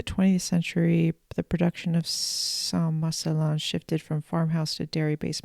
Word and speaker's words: Saint-Marcellin: Um Let me Let me let Okay, I'm going to let Wikipedia play pronounce it for us. Hold on. Turn my volume all the way up. Saint-Marcellin.